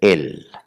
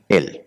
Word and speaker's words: El: Elí, en hebreo y en arameo, Dios se dice Él. ¿Cómo se dice Dios? Él, E-L, Él.